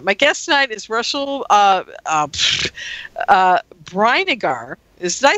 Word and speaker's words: Brinegar: My guest tonight is Russell Brinegar. Did I say that right, Russell? It's Brinegar. Brinegar. Okay. Yeah. Well, that's really interesting because there's an I in there. Yeah, it's like vinegar with a BR.